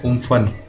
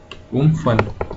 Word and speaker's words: Amphan: तो सबसे पहले जो साइक्लोन हमारा आया है, ठीक है, ये इसका जो प्रोनाउंसिएशन है बोलने का वो है उम्फन, उम्फन।